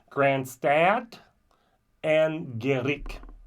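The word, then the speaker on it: Grianstad an Gheimhridh: the excuse my pronunciation this is how I was told in from person in Ireland to pronounce it Grand stat and g Grand stat and G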